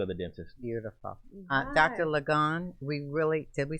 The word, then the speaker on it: Ligon: Ligon, did we say it right this time? Yes, Ligon.